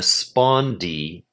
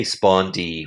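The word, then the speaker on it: spondee: And I say spondi with two equal stresses though I think the word spondi is typically a troy as a word. Spondi is how you say it. But uh I I often say it as spondy making it a spondy so it feels so I feel it.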